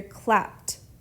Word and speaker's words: clapped: ending e d and notice that this e d we pronounce it like a t we hear clapped clapped dumbledore clapped for the